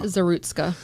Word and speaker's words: Zerutska: I believe it's Zerutka. Zerutska.